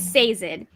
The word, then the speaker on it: Sazed: I don't know how to pronounce his name, but according to the audiobook, it is Sazed.